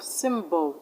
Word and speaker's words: symbol: So that's why we have symbol. Y in symbol is pronounced E, short E.